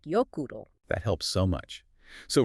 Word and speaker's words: Jökull: And O is pronounced like oo, as in zoo. And that's the key to Jökull and Snæfellsjökull. It's more like Jökull.